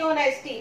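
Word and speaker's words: honesty: ऐसी ऑनेस्टी, ऑनेस्टी में भी H साइलेंट होता है तो ये क्या होगा, ऑनेस्टी होगा।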